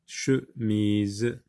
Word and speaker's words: chemise: Mais là, le E qui est à la fin, on le voit, on voit la lettre E, mais on n'entend pas le son E. Donc, il faut faire attention. Par exemple, dans le mot chemise, E ici est une lettre muette.